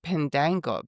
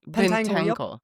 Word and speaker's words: Pentangle: And I I have just recently become aware of the band Pendangle. Pendangle. Did I say it right? Pentangle.